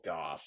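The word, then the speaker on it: Gough: Is it Michael Go or Michael? Michael Gooff. Okay. Michael Gooff.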